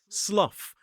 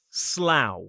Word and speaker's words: Slough: a place which looks like it should be pronounced slough rhyming rhyming with things like rough and tough but this one is slough.